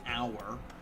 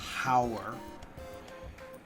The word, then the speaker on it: hour: hour I would say the H is silent an hour not hour with a yes I beg of